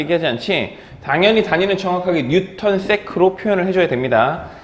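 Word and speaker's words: N·s: 이거 뭐라고 읽어? 뭐라고 했지? 뉴턴 세크지. NS라고 하면 NS면 윤지잖아. 비운의 아이돌이지. 자, 그러니까 그 NS라고 읽으면 안 돼, 그치?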